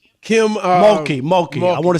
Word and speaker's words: Mulkey: The coach, I always mispronounce her name. What is it? Malarkey? Kim Mulkey.